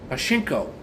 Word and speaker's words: pachinko: A I think it's pronounced Pachinko pinball machine, $199.49.